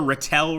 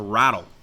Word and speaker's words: Ratel: we are ready so we've got the Ratelle right here or no sorry it's actually pronounced the rattle so the rattle here